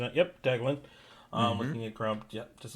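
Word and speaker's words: Deglan: Deglin, I might be pronouncing that. Yep, Deglin.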